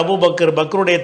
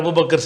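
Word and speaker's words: أبو بكر: அந்த சொல்லுடைய சரியான உச்சரிப்பு என்னென்னு கேட்டால் அபு பக்ர். சரியா? இது இந்த பேர் நிறைய பேர் இப்படி தப்பாக சொல்கிறதுனால, ஏன்னா அப்படி நான் ஒரு பாட்டு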